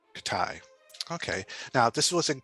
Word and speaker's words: Khitai: name of that i don't i'm afraid i'm mispronouncing it it's katai katai okay now this was in kickstarter a few